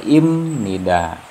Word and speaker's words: 입니다: atau bunyinya itu m jadi baca yang benar ini adalah imnida bukan Ibni dak oke nah kemudian